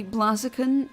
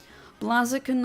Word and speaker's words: Blaziken: I've heard both, but I've also heard it pronounced as Blaziken, because the Ken should, or K-E-N part should, I think, be a reference to fighting game characters like Ken from Street Fighter.